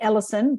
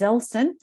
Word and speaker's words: Ellson: So some people, add an I in there and call me Ellson, but my name is Ellson.